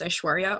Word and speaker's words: Aishwarya: hi i'm i'm aishwarya i just want to say my name so you know how to pronounce it if you're wondering it's aishwarya or you can call me i I'm honestly I